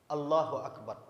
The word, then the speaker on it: Allahu akbar: besar Akbar jadi dia Bagaimana pengucapannya Allahu akbar Allahu akbar itu yang benar jadi tidak boleh diputus